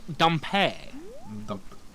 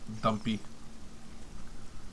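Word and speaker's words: Dampé: It's pronounced Dumpé. Dumpy.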